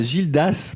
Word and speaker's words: Gildas: Et il dit on ne prononce pas le S final à Gildas par contre. Donc c'est Gilda. Non, mais moi je continue à dire Gildas.